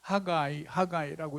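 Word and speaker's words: Haggai: 그래서 학개라는 이름, 즉 영어로는 하가이라고 이렇게 이제 발음을 하는데 우리는 이제 학개라고 번역을 해놨습니다.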